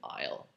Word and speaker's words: isle: so forth and uh it turned out into isle a i s l